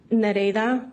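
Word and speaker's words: Nereida: Ma'am, could you please state your name for the record and spell it? Nareda mas n e r e i d a.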